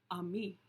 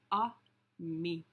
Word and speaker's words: ami: The word is ami, my mom says. You say it like this, ami.